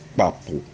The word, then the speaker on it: kpapu: Now, the A has a rising stress mark on it, and the U has a falling stress mark on it with a dot under it.